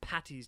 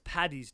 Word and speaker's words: Paddy's: the slang same paddy's day is okay saint patty's day is not some people in the north